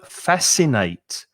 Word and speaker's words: fascinate: it conscience second word fascinate so the s is pronounced but the c is silent fascinate it's a fascinating